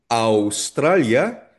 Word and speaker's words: Australia: Ang pronunciation nito ay hindi o. Australia.